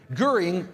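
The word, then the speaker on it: Göring: his name correctly whatever guring Herman guring with an uml out uh he actually hanged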